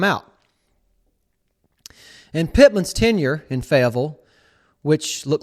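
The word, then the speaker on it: Fayetteville: the form of the Arkansas Razer backs in faville yes tiger fans I am pronouncing that properly with proper aranson dialect fille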